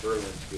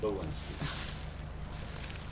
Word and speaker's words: Belinsky: Next up is You know, and a lot of people probably pronounce it Berlinski and it's Bolinsky.